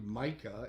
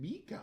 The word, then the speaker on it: Micah: It's clearly Micah, and she keeps saying Mika.